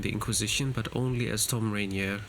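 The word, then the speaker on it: Thom Rainier: Tom Rainier is how he's pronounced, I think.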